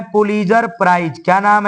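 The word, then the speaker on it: Pulitzer: उनका नाम है पुलीजर प्राइज। क्या नाम है? उनका नाम है पुलीजर। पुलजर लिखते हैं लेकिन टी साइलेंट है। बोलना है पुलजर।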